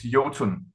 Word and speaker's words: Iotunn: There's a lot of Americans who say Iotunn, All but right. yeah, I think the best way is Jotun.